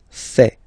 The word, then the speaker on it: fait: Il, masculin, and then elle, féminin, fait. Final T not pronounced.